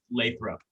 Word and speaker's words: Lathrop: Lathrop.